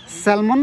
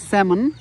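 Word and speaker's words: salmon: পাচ্ছেন তাজা স্যামন স্যালমন আসলে উচ্চারণটা হবে স্যামন এলটার উচ্চারণ হবে না তো অসংখ্য স্যামন দেখা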